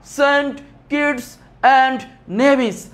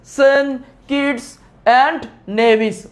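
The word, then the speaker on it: Saint Kitts and Nevis: আবার উচ্চারণ করবা সেন্ট কিডস এন্ড নেভিস। সেন্ট কিডস এন্ড নেভিস।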